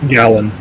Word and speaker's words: Galin: then or galen allen how do you pronounce gallon gallon yeah just like a gallon of water also just like gallon